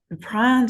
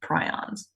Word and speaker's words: prion: part of the homework, it's pronounced prion. I say prion. They're both right. It's like the tomato problem. Tomato. That's what I hear in my head when somebody says prion. It's the British pronunciation. To me, tomato sounds right and prion sounds right, but both of them are acceptable.